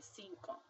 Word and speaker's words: cinco: The first C sounds like an S because it's next to an I, and the second C sounds like a K because it's next to an O. So you would say cinco.